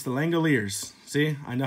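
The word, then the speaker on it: The Langoliers: last year cuz I didn't know how to pronounce the Langille ears it's the Langille ears see I know how to say it now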